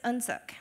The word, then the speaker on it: UnSuk: My name is UnSuk. So Un is pronounced somewhere between the short and long vowel U. It means grace or mercy. Suk rhymes with hook or book, and it means dignity.